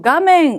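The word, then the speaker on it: 画面: 파소콘노 가멘 오죠. 화면이라는 단어는 되게 발음도 중요한 단어이죠. 가멘이라고 읽고, 컴퓨터의 화면을 미라 아타마가 이타쿠 나tte 시마tta.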